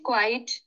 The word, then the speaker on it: quiet: uh sometimes when she's quiet IET e t Qi e t and the pronunciation is quiet quiet okay Qi e t quiet okay okay now what